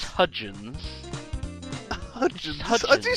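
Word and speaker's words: Hudgens: something or Hi H I thought the D was silent hyans or like the the hyan belt in space space in space why are you mocking me you're the one who can't pronounce hudgin hudin what do you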